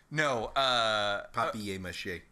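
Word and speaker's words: papier-mâché: Papier mache.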